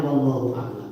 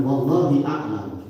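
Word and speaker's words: والله أعلم: Tidak ditulis wallahu a'lam itu bacanya wallahu a'lam. Jangan wallahi a'lam. Demi Allah saya tahu.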